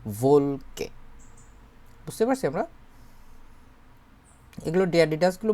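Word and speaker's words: Wolke: এইটার আউটয়েস যার মানে কি বলে দেখেন তো ভোলকে দি ভোলকে উচ্চারণ করেন তো দিল ভলকে ভলকে হবে না ডবলিউর মত ইংরেজির মত হবে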